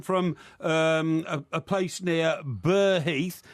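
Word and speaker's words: Burgh Heath: um a place near bur Heath which is b u r g h Heath it's not ber Heath it's bur Heath right okay I'm not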